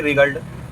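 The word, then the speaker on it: wriggled: उसे सफलता नहीं मिली ही रिग्ड ही रिगड डब्ल्यू साइलेंट है ही रिग्ड इन पेन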